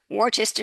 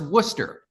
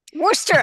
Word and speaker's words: Worcester: lecturing and mentoring students at Fitchburg State University Worchester State University Emerson college and Boston University well